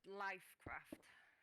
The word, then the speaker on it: LyfCraft: that piece of scaffold it's uh pronounced lifecraft just spell it with a with a Y instead of a I trademark at some point